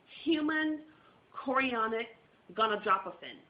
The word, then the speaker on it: human chorionic gonadotropin: And HCG, and let me pronounce this correctly, is actually called human chorionic gonadotropin.